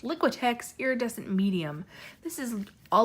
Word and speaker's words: Liquitex: it out liquid-liquid ticks yeah that's how it's pronounced liquitex iridescent medium this is a large jar of